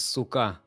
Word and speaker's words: Sukkah: The singular is Sukkah, which is which you know what it Sukkah.